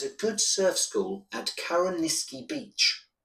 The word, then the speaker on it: Carrowniskey: There's a good surf school at Karaniski Beach. How do you spell that?